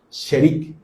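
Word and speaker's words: שארית: Por ejemplo, en hebreo viene de una palabra que se pronuncia así como sherik.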